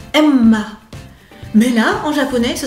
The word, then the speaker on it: Emma: Par contre, pour Emma, il y a un double M et on va un petit peu s'arrêter sur le M. Emma, mais là en japonais, ce sera que deux syllabes.